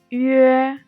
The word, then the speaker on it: yue: The second final is Yue. Yue. When we pronouncing Yue, pronounce U first, then slide to A. The airflow need to be continued.